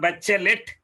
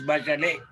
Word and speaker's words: Bachelet: human rights misses by she is not bachelet as wrongly pronounced she is back alley her husband was killed